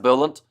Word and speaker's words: Boland: Bowling pronounced Bolant says Bruce there and also loves smashing pumpkins music says Craig now.